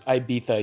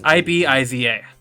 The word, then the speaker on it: Ibiza: I thought it was Ibiza. You pronounce it with like a TH. No, it's Ibiza. It's Ibiza. Ibiza? I Okay. think. Ibiza. Ibiza? Okay. Yeah. There's a little bit of a lisp there.